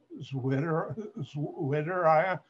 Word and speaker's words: Zwitterion: Zwitter ion. This is Zwitter ion. In German, a W is pronounced like we say V.